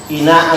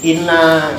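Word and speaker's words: إنّ: Inna anzalnahu fi Lailatul Qadri. Inna itu harfu taukid, dibacanya panjang ya, bukan inna pendek tapi inna, harus ada penekanan karena nunnya bertas.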